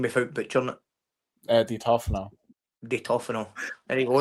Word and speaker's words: Di Tofano: Di Tofano.